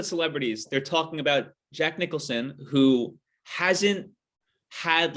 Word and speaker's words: Nicholson: Is it Jack Nicholas? Jack Jack Nicholson. Nicholson.